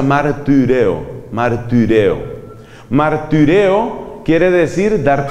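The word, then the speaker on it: μαρτυρέω: La Y se pronuncia como la I francesa, que es una combinación entre la I y la U. Por eso se pronuncia martireo.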